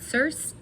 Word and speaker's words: Circe: it in my mind, I pronounce it as Circe, so that's how I'm going to pronounce it here. If it's not how you pronounce it, sorry.